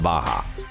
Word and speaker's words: Barra: Don't be fooled by the two R's. It's actually pronounced Barra.